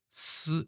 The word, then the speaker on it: 司: 중국어 발음은 스 이렇게 됐습니다. 이거 중국어는 좀 중국어를 배우시지 않은 분들은 좀 헷갈릴 수 있는데 이게 시가 아니라 스 이렇게 되어 있습니다.